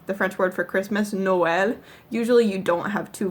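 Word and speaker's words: Noël: one sound so the French word for Christmas Noel usually you don't have two vowel sounds in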